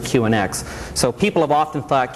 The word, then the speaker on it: QNX: So they asked to change the name, so we changed it to QNX, which still sounded like Q Unix because we always pronounced it QNX.